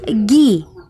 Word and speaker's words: gi: attacks the karate uniform is called agi or ghi or pronounced gi a martial art of